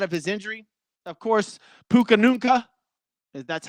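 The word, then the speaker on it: Puka Nacua: Of course, Puka Nunca. That's how you pronounce it.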